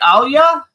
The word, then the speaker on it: Anya: Can you tell me is it Anya? Yes, you did it perfectly. You're one of the few people that actually pronounced my name perfectly from the first try.